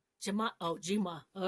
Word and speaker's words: Jimaa: Jamai. J. Um Juliet Jima. Jama. Oh, Jima.